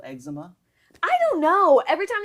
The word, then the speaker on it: Exuma: God, what a and they spell it stupid name. EXUMA. I know. So why wouldn't you say it eczema?